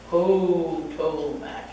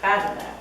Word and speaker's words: Potomac: I don't know why our visitors pronounce the name of our river Potomac. It's Patamac, that's how we call it.